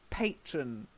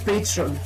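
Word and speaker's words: Patrón: And then patron silver tequila.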